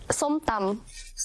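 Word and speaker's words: ส้มตำ: Say อ your pronunciation is on Point you pronounce ส้ม ตำ ส้ม ตำ Perfect Oh my god Yes you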